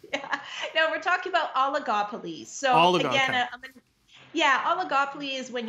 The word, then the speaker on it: oligopoly: we talk about monopolies and give me the pronunciation again. Yeah. No, we're talking about oligopolies.